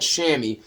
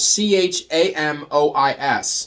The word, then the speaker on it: chamois: like a fleece almost it's called Chamois but it's not spelled um sh it's spelled c-h-a-m-o-i-s um it's pronounced Chamois so chamois cloth Chamois